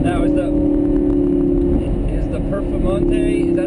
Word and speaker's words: Performante: becomes a handful now is the is the performante is that how you say it yes perante